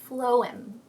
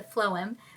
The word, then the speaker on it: phloem: After the outer bark, we have the inner bark called the phloem. Let me check that. Oh, I said it right. Oh my god. Go me. Then we have the inner bark called the phloem, which transports the nutrients throughout the tree.